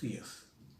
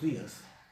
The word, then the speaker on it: días: Y cuando digo días, también estoy poniendo un énfasis en la sílaba di. Días.